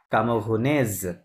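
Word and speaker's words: camerounaise: হ্যাঁ, আই এম কামোগুনে, জসুই কামোগুনে। বাট যদি মনে করেন মাদাম স্নিগ্ধা, উনি বলে যে আই এম ক্যামেরুনিয়ান, ওনাকে বলতে হবে জসুই কামোগুনেজ, কি হবে?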